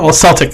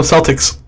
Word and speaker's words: Celtic: harvest season and honors Celtic. It's Celtic. Celtic. Oh, Celtic, my bad. Yeah, Celtic. Celtics is the Boston basketball. Yeah, the team. It's spelled the same. In my defense, it's spelled the same way.